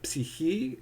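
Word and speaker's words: ψυχή: Now, the Hebrew word for soul is nephesh, and in Greek it'd be psyche, as modern Greek pronounces it, or suke, as some scholars say it, or psyche, as you might hear.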